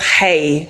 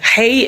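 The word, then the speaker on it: Haigh: And then the last one is Elizabeth Hay. Hay is spelled H H-A-I-G-H.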